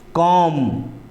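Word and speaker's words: comb: किया जाएगा है ना जिस तरह से बम कॉम और थम यह तीनों शब्द में लास्ट में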